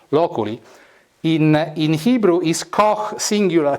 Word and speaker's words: loculi: Loculus singular, loculi, or actually loculi, it's a Latin, no, it's the American pronunciation. Loculi.